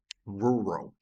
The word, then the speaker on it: rural: Aqui ele é os Rs que trem mesmo, que vem aqui da garganta. Então, rural, rural, rural, rural, rural, assim, sou meio estranho. Rural, rural, rural. E é assim que é. Eu particularmente não acho que fique bonito o inglês, mas é assim que se fala.